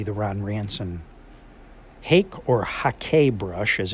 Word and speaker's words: hake: So first and foremost would be the Ron Ranson Hake or Hake brush, as it's properly pronounced, so no one yells at me.